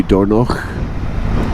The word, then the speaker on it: Dornoch: Dornoch. Just seems wrong for me, a Scottish person, to call something Dornoch. It should be Dornoch, but no, this place is Dornoch.